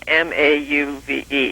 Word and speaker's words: mauve: Another one is the pronunciation of the word M-A-U-V-E. How would you pronounce that? Mauve. Okay, well, I pronounce it mauve, and that's still the way it is in most of the dictionaries.